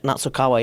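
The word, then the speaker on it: Nasukawa: Natsukawa, yeah.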